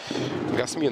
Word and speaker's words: Гасми: Гасми, правильно, скорее всего, французы ведь. Гасми на последний слог ударения.